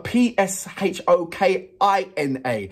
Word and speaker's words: Pshokina: Anna Pshokina. Anna Pshokina. Now, because the reason why I said, because it's got a P-S-H-O-K-I-N-A. And I didn't know whether to pronounce the P or leave the P out.